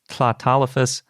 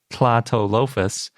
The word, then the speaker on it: Tlatolophus: But the hard part is spelled starting with a TL, and it's based on Nahuatl, which is, as best I can pronounce the language, that we usually pronounce Nahuatl.